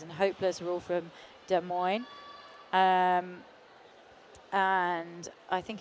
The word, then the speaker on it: Des Moines: um thank you to Michelle for correcting my pronunciation uh It's Des Moines I think not just like I'm trying to